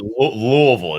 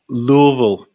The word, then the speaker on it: Louisville: You gotta pronounce it Louisville. It's got you gotta have like you gotta say it. Yeah, you gotta say it right. You gotta say something. Sorry. Louisville.